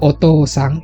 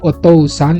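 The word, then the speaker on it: お父さん: itu kebanyakan menggunakan u-ya huruf Hiragana nya menggunakan ku ini kalau tulisannya remaja menjadi otou-san ya saya bertanya bacanya itu otosang menggunakan ku Tapi bacanya O ya ini ini eh yang pejabat ikan ya kalau aiueo itu gampang Semuanya sama seri kalau Oh itu rata-rata menggunakan pupuk ya panjangnya jadi bacanya bukan otou-san tapi otosang biasa jadi ini seperti Oh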